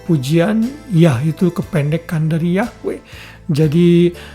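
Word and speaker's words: Yahweh: yahwe yang menyelamatkan kita tahu memang ada banyak perdebatan mengenai Bagaimanakah mempronounce eh yhwh itu W itu di dalam bahasa Ibrani namun para teolog sepak pengucapan yahwe yang paling mendekati kalau kita mau pakai secara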